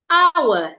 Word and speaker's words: hour: Salmon, castle, answer, hour, the H is silent.